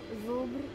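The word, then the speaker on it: Żubr: Zubr.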